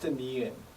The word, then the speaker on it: 니은: The next, a symbol pronounced 니은, where the K is silent.